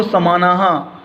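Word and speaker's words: समानाः: दैवी, सृष्टि, कदली सदृशी, शुंडा, स्तंभ समानाह। इस बिंदी को हा पढ़ते हैं, याद रखने का। दो बिंदी हा पढ़ी जाती है।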